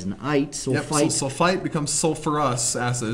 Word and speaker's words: sulfurous: i sulite sulfite becomes sulfurous acid it's not sulfus acid we put the herb back in there from sulfur sulfurous sulfurous sulfurous well I've